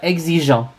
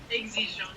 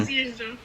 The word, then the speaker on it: exigeant: Ouais, exigeant. Exigeant. Ah, don't pronounce the N. Wait, don't pronounce the N. Exigeant. Don't pronounce the N.